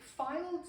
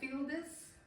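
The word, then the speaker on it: Fildes: Mary is it Files or Fielders. Files. Files. Files. Okay. Mary Files.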